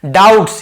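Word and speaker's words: doubts: डाउट्स, यहां पे B silent होता है, डाउट ऐसे नहीं पढ़ेंगे, केवल डाउट्स, बी साइलेंट, बी को नहीं पढ़ना है।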